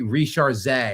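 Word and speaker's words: Risacher: So uh yeah um Zachary Rishar I believe is the pronunciation and uh yeah in his first two years in the NBA again I don't know what Atlanta was thinking.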